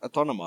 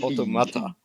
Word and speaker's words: Automata: Why do I've always called it Autonoma. I don't know why. I'm checking it now and it's Automata.